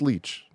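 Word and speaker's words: Leitch: and 59 minutes um it's pronounced leech thank you Langley David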